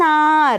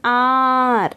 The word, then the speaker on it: hour: An hour, look at this, H is a consonant, yet we use an because the H is silent and we pronounce it this way. An hour, the H is silent